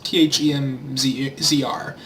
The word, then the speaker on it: themzr: I believe his name is pronounced themzr. It's themzr. He is here, themzr TK,